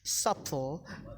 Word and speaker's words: subtle: And then before T, subtle, depth, doubt.